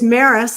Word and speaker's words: Maris: correct Madison it's it's Maris like Paris with an m okay Paris Maris thank you thank you